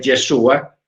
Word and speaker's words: Yeshua: Porque nosotros, el hecho de que nosotros sepamos que el nombre correcto es Yeshua, no vamos a pensar